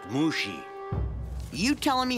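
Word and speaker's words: Mushi: Mushy, is it? It's pronounced Mushy.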